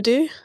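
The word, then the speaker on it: Dubh: Dara Do, how do you spell that? Dara, D-A-R-A, and then Do is D-U-B-H.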